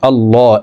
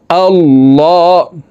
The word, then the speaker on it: আল্লাহ: প্রিয় দর্শক, এখানে দেখুন আল্লাহ, এই লামকে ল বলে পড়তে হবে, কারণ আল্লাহ